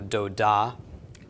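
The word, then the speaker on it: דודה: ah to the end of course the hey is silent at the end of a word so doe da is an ant ekiden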